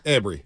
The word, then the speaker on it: Ambry: of weeks Ambry Thomas is it omry or Ambry I say it wrong Ambry Ambry okay and then defensive tackle